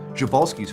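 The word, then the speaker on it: Przewalski: horse that's still around is an endangered subspecies jovalski's horse also known as the Taki or Mongolian Wild Horse and I'm pronouncing it that way because that's also David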